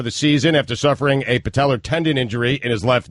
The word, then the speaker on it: patella: Patellar. It's just an A at the end.